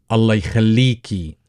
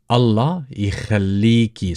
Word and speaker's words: Allah ykhalleeki: Allah ykhalleeki, Allah ykhalleeki. So the kha is a little bit hard for you guys. It's quite common in German and Gaelic.